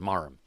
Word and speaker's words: Marham: marham yeah probably yeah that H is silent marham yeah so what do